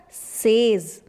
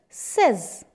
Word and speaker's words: says: most of the time everybody use it as says but it's says yes now next word